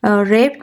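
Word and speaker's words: wrapped: रेप्ड the rest watch रेप्ड में W silent है हम आर से शुरू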